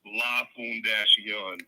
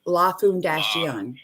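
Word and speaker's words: La Fundación: And just so you know, it's pronounced Lafoon-Dash-Yen. Lafoon-Dash-Yen. Lafoon-Dash-Yen is Spanish. It means the foundation.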